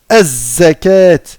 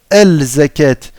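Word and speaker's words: الزكاة: avant, on va dire az-zakat. On va pas dire al-zakat. On va dire az-zakat. D'accord? On va pas prononcer en fait le lam ici. On va aller directement au zay.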